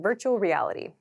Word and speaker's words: virtual reality: is VR VR means virtual reality virtual reality so this is pronounced virtual virtual at Native speed this sounds like virtual reality so these R and L sounds kind of connect virtual reality so virtual